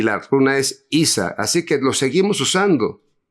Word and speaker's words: Isa: Sí, por ejemplo, Isa es ice, es el hielo. La Isa es una línea vertical, significa, se lee así Isa, pero se podría pronunciar ice, como ice en alemán, pero nada más que se escribe distinto, se escribe eis.